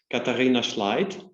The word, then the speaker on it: Katharina Schleidt: Katharina Schleidt would be the German pronunciation, and simply Kathi.